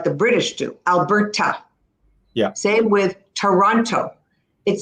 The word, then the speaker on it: Alberta: We do pronounce the T. But let me tell you, generally, we don't pronounce it like the British do. Alberta.